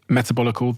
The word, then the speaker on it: Metabolical: book and I also have this book called metabolical did I pronounce that correctly you did metabolical the L and the lies of processed food